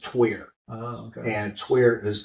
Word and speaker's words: Tyr: But we pronounce it tier, as in tier 1, like a tier 1 unit.